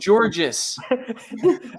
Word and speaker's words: Georges: for so long it's just dude dustin is pronounced george his name is georges we got we got some nian controversy on